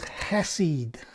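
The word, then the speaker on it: חסד: and that word is hesed now i'm told that if you're not spitting on somebody or something when you say this word you're pronouncing it wrong because it's it it's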